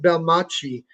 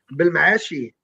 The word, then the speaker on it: Belmaachi: name comes from and it's not really pronounced like that in in Morocco, but I pronounce it Bel Machi because it rhymes with Versace. So, how do you how do you how do you pronounce it in Morocco? Bilmashi.